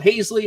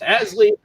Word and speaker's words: Haseley: me at twitter at hasley looks like it's spelled hazely but it's pronounced asleep i go by either one and i am